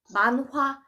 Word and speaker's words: manhwa: In Japanese pronunciation is manga, and in Korean pronunciation is manhwa.